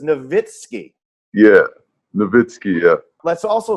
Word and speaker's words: Nowitzki: steen not stein stein it wasn't nowitzki right it was novitskiy yeah nowitzki yeah let's